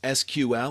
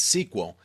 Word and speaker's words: SQL: SQL structured query language SQL pronounced as SQL or sometimes as sequel is actually the standard